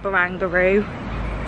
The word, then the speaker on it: Barangaroo: To correct my mispronunciation in the last clip, it is in fact Barangaroo. So apologies about that, because I don't like mispronouncing things if I can avoid it.